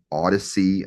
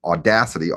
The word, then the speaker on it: Odyssey: Odyssey, I think that's how you say it. Odyssey, not Audacity. Audacity is a software platform, but Odyssey is big.